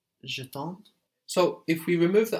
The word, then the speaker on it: j'attends: The D and the S just become one consonant cluster that is silent, so we're left with j'attends, j'attends.